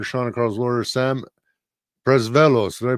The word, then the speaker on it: Presvelos: The hard worker Sean and Carl's lawyer Sam Presvelos, did I pronounce that right?